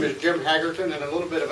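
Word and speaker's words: Haggerton: coming after i said my name is jim hagerton and a little bit of an introduction on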